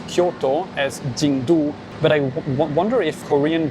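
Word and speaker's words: 京都: two characters are pronounced in Mandarin, or to pronounce Kyoto as Jingdu.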